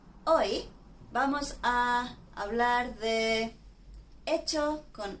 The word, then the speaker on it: hecho: You know, as we said before on a different video, the pronunciation of 'HECHO' and 'ECHO' is the same because the 'h'... we don't pronounce that letter but when it comes